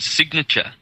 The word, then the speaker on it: sign: given us the word signal and uh of course when you sign something um you've got a silent G in the word sign and when you remove